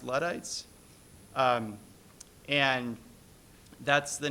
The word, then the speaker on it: Luddites: used to use, which is, I think it's pronounced Luddites.